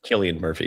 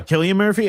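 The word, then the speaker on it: Cillian Murphy: Um Killian Murphy. Yeah, Killian Murphy. Okay. Yeah, I knew it was some weird pronunciation.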